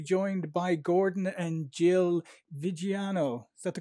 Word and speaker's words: Viggiano: And today I am delighted to be joined by Gordon and Jill Viggiano. Is that the correct pronunciation?